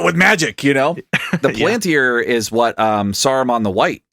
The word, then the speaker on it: Palantir: the CEO of a big data security firm, Palantir, I think is how you say that. Yeah, Palantir, which I believe, if I'm not mistaken, or I think it's Palantir.